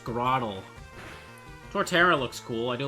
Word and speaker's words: Grotle: It's pronounced Grottle.